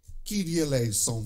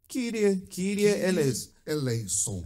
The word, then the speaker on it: Kyrie eleison: Kyrie eleison. Ai, meu Deus, que é grego. Kyrie eleison. E que eleison é uma pronúncia moderna.